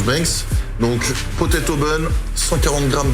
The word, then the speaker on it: Binks: Ça se prononce Banks.